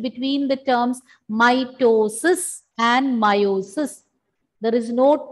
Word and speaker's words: meiosis: Don't get confused between the terms mitosis and meiosis. There is no T in meiosis. Both are pronounced more or less the same way. And in meiosis, E is silent. Mitosis and meiosis.